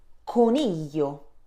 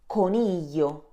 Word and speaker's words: coniglio: GL followed by vowel E sounds Y as in million, coniglio. Repeat after me, coniglio.